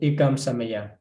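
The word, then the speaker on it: ekaṃ samayaṃ: So, but if you know, this is referring to the Nikahita, which have to pronounce with the closed mouth. After that, you need to close.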